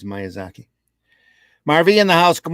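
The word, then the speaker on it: Miyazaki: gents uh M Zaki Miaki was I pronouncing it wrong I it's myazaki Marvy in the house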